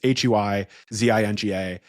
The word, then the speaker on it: Huizinga: Different Dutch people tell me it's pronounced differently, but it's Huizinga.